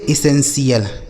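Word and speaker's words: essential: इसे पढ़ेंगे एसेंशियल। क्या पढ़ा जाएगा मेरे दोस्त? एसेंशियल। ठीक है? यानी इसका उच्चारण हो जाएगा एसेंशियल। टी आई एल का उच्चारण सी एल।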